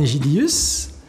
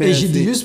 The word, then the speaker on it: Egidius: Donc, Egidius, pour ceux qui ne connaissent pas, hein, E-G-I-D-I-U-S. Je précise, Egidius, pas Egidius.